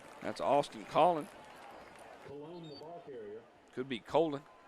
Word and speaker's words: Colon: Could be Colon. C-O-L-O-N.